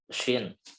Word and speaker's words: ش: di akhir ayatnya ada huruf shin ya, shin. Maka coba kita bacanya dengan semaksimal mungkin atau kita sempurnakan seperti itu ya. La syahid, syah, shi, shu, la syahid. Jadi jangan sampai ini tertukar atau mirip-mirip dengan sin gitu ya.